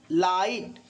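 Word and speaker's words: light: यदि आई के बाद GH आए तो आई का उच्चारण आई होता है, जैसे राइट, ठीक, साइट, लाइट, हाई। लेकिन ध्यान रखिएगा, GH साइलेंट रहता है, GH साइलेंट रहता है।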